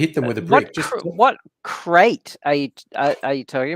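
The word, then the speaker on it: Krait: spaceship in Elite dangerous cat carrier crate crate okay it's spelled differently it's spelled KR AIT that's that's right there's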